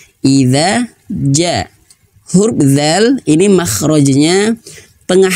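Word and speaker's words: إِذَا جَاءَ: Jangan sampai bacanya ijaja. Nah, tidak. Tapi idza ja.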